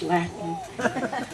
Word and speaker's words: Latin: My Latin teacher said it that way. It rhymes with Satin. I teach Latin.